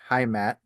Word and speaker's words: Heimat: I don't know how to pronounce it, but I think it's Heimat. Um, Heimat, yeah.